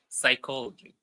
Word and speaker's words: psychology: There is a P that is silent in the very beginning of the word.